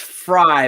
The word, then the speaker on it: Freitas: so first of all my last name is actually pronounced fry but i think i'm going to change the pronunciation to fray because you already had